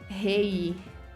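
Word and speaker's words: hej: Hey is pronounced like hey. I was like, just hey. Or he.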